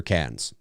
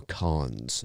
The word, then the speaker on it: Cannes: The Toronto International Film Festival is pretty much the second most prestigious film festival after Cannes, or Cannes, depending on how you want to pronounce it.